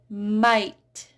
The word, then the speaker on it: might: Might, right, fight, wait. Notice how these are all silent GH.